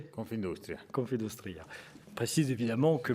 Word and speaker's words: Confindustria: Je l'ai bien prononcé ? Confindustria. Confindustria.